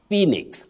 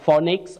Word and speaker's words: Phoenix: you right young girl you say Phoenix not phix and not phix and not phix Phoenix